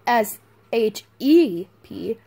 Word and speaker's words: Shep: It's weird because it's called Old Shep, but you know how sheep is spelled S-H-E-E-P? Yeah. It's spelled Old Shep is spelled S-H-E-P. So I want to say sheep, but...